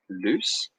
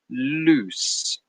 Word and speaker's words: loose: as being loose so there's a slight difference in pronunciation so if I write them down like this number one loose number two lose if you listen closely number one has a slightly longer sound loose and number two is